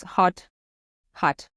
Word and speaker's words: Håut Hutt: bit more modern yeah so the right pronunciation is hot hot yeah H H but